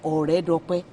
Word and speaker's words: Oredope: Is it Oredope or Oredope? The repronunciation is Oredope. Ore. Not Ore friend. No. It's Ore. Ore.